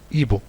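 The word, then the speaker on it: hibou: واحد الخاصية ديال حرف اش هو انه لا ينطق، يكتب ولا ينطق. ملي كيكون بوحدو كيتكتب وما كيتنطقش. بحال مثلا لاحظوا هنايا ان ايبو كاين الاش اون فوا لو اش مي اون لو برونونس با. كنشوفوا الاش ولكن ما كنطقوش.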